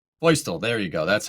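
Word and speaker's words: Feustel: You say it boistl.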